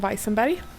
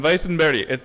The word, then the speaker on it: Weissenberg: It's Weissenberg. So, Weissenberg. The B is a little bit soft.